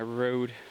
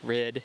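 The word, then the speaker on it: RØDE: switched to the Canon 70 D in my road or red as it's supposed to be pronounced shotgun microphone which I forgot to turn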